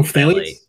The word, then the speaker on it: phthalate: Oh, phthalate? Yeah, the pH is silent.